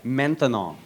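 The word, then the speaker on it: maintenant: Menthanol. Menthanol. Three syllables.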